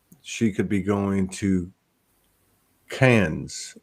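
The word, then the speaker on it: Cairns: could be going to cans they pronounce it cans but it's c-a-i-r-n-s and worse and it's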